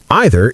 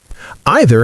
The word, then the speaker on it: either: Either has two acceptable pronunciations in English. American English usually either sounds like e as in c. British English usually either sounds like I.